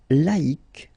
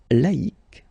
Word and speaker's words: laïque: Second example, laïque, laïque.